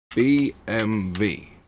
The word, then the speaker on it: BMW: this car company carefully in Germany we pronounce it like this b b so BMV in America we pronounce